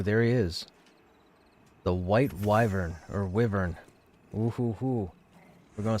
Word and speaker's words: wyvern: want to pronounce it I've always said wyvern but a lot of people say Wy Bur that was a weird